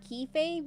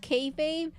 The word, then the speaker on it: kayfabe: But it's not Kefab. It's It's spelled Key Fabe, but it's pronounced Kayfabe.